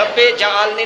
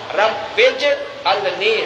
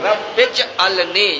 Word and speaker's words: رب اجعلنی: اجعلنی، با جو ہے اس کو جیم کے ساتھ ملانا ہے، رب اجعلنی نہیں، جیم کی زبر نہیں پڑھنی، جیم کے اوپر جزم ہے، وقت فرق نہ ہو، رب اجعلنی، رب اجعلنی، یہ صحیح تلفظ ہے۔ تو اس کے علاوہ